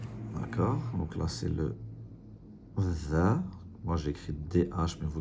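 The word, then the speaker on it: ذ: Donc là, c'est le dha. Moi, j'écris DH, mais vous écrivez comme vous voulez. L'important, c'est de bien le prononcer.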